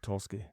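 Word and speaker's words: Tulsky: the this is the fact that I heard toski is that how you say his name yeah Eric toski say that yeah we think he's going to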